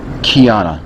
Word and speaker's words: Kiana: K-I-A-N-A Kianna. Yes. Alright. Cool. . ((maybe writing it out phonetically, �key�?))